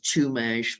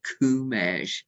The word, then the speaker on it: Chumash: kumash and Chumash um everybody else I think says to mash but um when I asked David if um the source that was inspiring this piece um had um could pronounce their tribal name it came out kumash so I've I've kind of slipped into that and of course David was